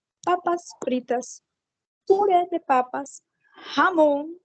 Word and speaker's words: jamón: É Pode jamón. repetir a pronúncia de presunto?